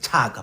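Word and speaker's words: Shaka: In Eastern Cape, it is Chaka. That is true. In IsiXhosa, it is Chaka. But in IsiZulu, In IsiZulu, they pronounce the sibilant sh, not the ch.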